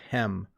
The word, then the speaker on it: hem: a hem okay so notice the difference again you eat ham and you hem clothes it's a slightly different pronunciation you eat ham and you hem clothes hopefully you could hear the difference between those two let's see here pepe